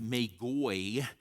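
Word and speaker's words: μάγοι: someplace like that is the Greek word that Matthew uses that we pronounce magi, and actually in Greek it's pronounced magoi, is a word that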